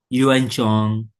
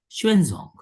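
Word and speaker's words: Xuanzang: We pronounce according to our own system of pronunciation yuan chong. But this pronunciation in Chinese is a basically shuenzong.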